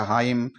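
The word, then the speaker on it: hymn: n आ रहा है तो हम n को साइलेंट करते हुए h वाई एम की ही हम ध्वनि निकालेंगे तो ये हो गया हाइम इसी तरह सय ए ए यहां पर भी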